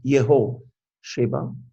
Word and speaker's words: Jehosheba: But Jehosheba, in our language, the J is not, I think it's in Hebrew, it would be the same. It's not Jeho, it's not pronounced the J, Yehosheba, the daughter of King